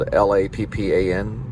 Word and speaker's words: Lappan: It's spelled Lappan. I made up the name, but it comes from Lappan, or Lappan, or Lippin, or Lappen.